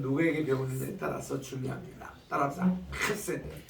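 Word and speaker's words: חסד: 따라서 헤세드. 혀 가래 뜨는 소리예요. 헤세드.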